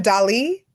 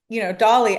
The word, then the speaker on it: Dali: people ever call you Dali? Yes, and that's actually like the correct pronunciation. But I've just gotten so like I'm like it's Dolly.